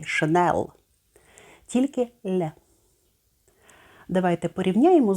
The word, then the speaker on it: Chanel: різних версій у вимові у французькій мові немає твердого звуку л як наприклад в англійській шенел тільки не давайте порівняємо